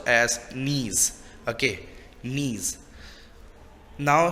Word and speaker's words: gneiss: तो it's B, gneiss. Here G is silent. Okay, तो GNEISS can be pronounced as gneiss.